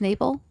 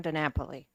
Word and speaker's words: DiNapoli: further questions thank you for your testimony Miss nabel I think I'm pronouncing that properly thank you it's actually DiNapoli poor handwriting um so my name is